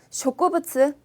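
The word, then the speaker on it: 植物: 자, A, 쇼쿠부츠. 자, 쇼쿠부츠는 한자 그대로 식물. 저 우리가 동물을 도우부츠라고 하니까 똑같이 부츠라고 발음하시면 되겠습니다.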